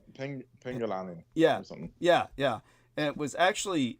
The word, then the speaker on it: Penanggalan: In some cases, but I will say this when it comes to Penanggalan or because I could never get the Southeast Asian pronunciation. Penanggalan.